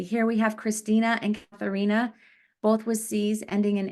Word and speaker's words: Katharina: In German, so if you pronounce these names in German, it would read Christina and Katharina. The E's would make the A sound.